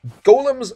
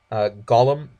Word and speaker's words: golem: dotes quite a bit golems rampage I don't know why some people say Gollum Gollum is spelled with a u and two L's and is just a different word Gollum Gollum it's a comes